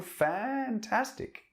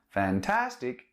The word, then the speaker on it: fantastic: on fantastic okay and the intonation or accent in english goes in the first syllable fantastic not fantastic okay so that's a fantastic